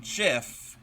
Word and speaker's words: GIF: was told the creator of that file format pronounces it JF because there in the US there's a brand